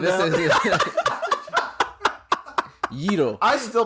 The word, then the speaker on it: gyro: fucking gyro Like come this down. is Yiro. I still pronounce it gyro.